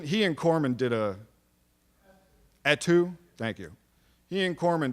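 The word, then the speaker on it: Etue: david's last name how do you pronounce david attu's last name david at e2 e-t-u-e no he and he and corman did a at two thank you he and corman did a um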